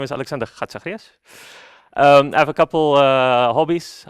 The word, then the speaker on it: Alexander Chatzizacharias: So it's Alexander Chatzizacharias.